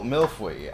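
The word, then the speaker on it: mille-feuille: mill free no fly it's got so many vowels in in it and you only pronounce one of them and you pronounce another vowel that's not there rainbow pasta like how would you pronounce how would you spell milfoy i would spell it like fwey but it's spelled f-e-u-i-l-l-e hey look it wouldn't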